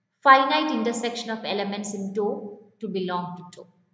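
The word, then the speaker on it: tau: Greek alphabet ta u it is pronounced as dou a sub set to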